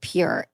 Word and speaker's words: pjur: I love Pure Lube. It's spelled PJUR.